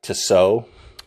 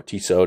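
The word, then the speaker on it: Tissot: a step up from like to sew um or tiso depending on how you pronounce it but yeah this isn't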